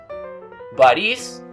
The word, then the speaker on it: Борис: This is because Russian has what we call palatalized consonants. These are consonants in which you raise your tongue a little bit to pronounce them. The difference between palatalized consonants and non-palatalized consonants is very important in Russian.